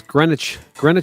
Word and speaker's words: Greenwich: EVHCon is in Greenwich Village, and every time I see people type it in the chat, and people pronounce it Greenwich. Greenwich. Yeah, sandwich or something.